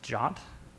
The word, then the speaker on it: JWT: you might use so JWT pronounced jot uh Json web tokens